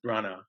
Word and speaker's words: Branagh: I mean not Kenneth Branagh whose name it is Branagh because you know people have yeah they have the the gh at the end of their name you don't pronounce it it's just yeah